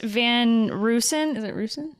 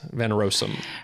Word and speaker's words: van Rossum: the thing I wanted to know is what van Roosen Rossum roaster OSS um I can't say that I'm saying it right yeah van Rossum right so other things I wanted to figure